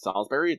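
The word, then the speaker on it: Salisbury: into section two actually don't know how to pronounce this is it Salsbury yeah Salsbury same as a Salsbury Salsbury okay so we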